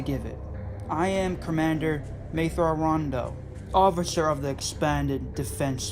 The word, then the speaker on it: Thrawn: Thrawn. It's pronounced Thrawn. Yes, Thrawn. Thrawn. Anakin clenched his teeth. He could hear a slight difference between his pronunciation and the alien's, but he couldn't figure out how to correct his vision.